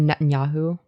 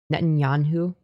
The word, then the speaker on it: Netanyahu: Netanyahu. Yeah, Netanyahu. Emphasis on the nyet.